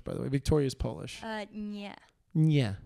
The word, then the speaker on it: nie: Nie. Nie. Without the T.